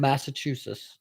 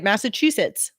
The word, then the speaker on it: Massachusetts: Massachusetts. Oh, so you pronounce the T, which is probably right. I just don't. Because you're Philly. Massachusetts. Yeah, you forget the whole last T. Yeah. Yes. Massachusetts.